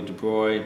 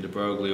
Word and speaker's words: de Broglie: usual de Broglie relation I know there are several pronunciations of his name I believe the correct one is probably de bruit but I've been using de Broglie all my life so I'll just continue to go with that ignorant pronounciation so this is a